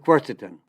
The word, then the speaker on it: quercetin: Well, there's a very powerful flavonoid, a polyphenol, and it's called quercetin. And I'll spell it for you. It's Q, like Queen, U-E-R, C like Charlie, E like Edward, T like Tom, I-N like Nancy.